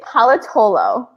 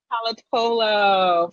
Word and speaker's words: Pallotolo: And, pronounce your last name for me. It's Pallotolo. Pallotolo.